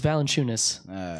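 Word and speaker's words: Valančiūnas: You pronounce his name weird. Valanciunas? It's Valanciunas.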